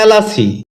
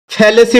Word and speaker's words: fallacy: ফেলাসি এটাকে আমরা ফেলেসি বলে থাকি যার সঠিক উচ্চারণ হচ্ছে ফেলাসি।